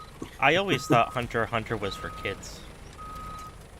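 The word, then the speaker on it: Hunter × Hunter: in anime or manga, you don't pronounce the X. It's not Hunter X Hunter or uh Spy X Hunter. It's just, you know, Hunter Hunter or Spy Hunter or something.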